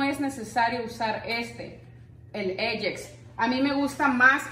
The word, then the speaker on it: Ajax: Para los baños, este es el, en México lo conocemos como Ajax, y de hecho aquí se pronuncia Ajax o el Comet.